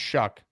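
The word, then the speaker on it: Shough: pronounce his last name it's pronounced shuck Tyler shuck yeah I I I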